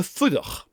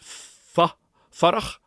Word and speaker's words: fuireach: We've got the oo vowel, which is an oo sound. We're tempted to pronounce it fuireach in Gaelic, but it's an oo sound. It's very, very short. Very, very short vowel.